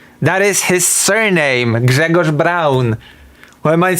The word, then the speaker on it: Braun: Gregor Brown. Why am I not supposed to use his surname? What do you mean? That is That is literally how you pronounce his name in Polish.